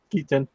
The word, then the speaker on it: Keaton: I always say his last name wrong. Keaton.